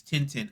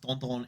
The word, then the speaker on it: Tintin: be in English it's Tintin. I think it's pronounced Tonton in French.